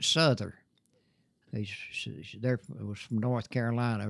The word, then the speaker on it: Souther: He says, my wife was a Souther. They pronounce it Souther.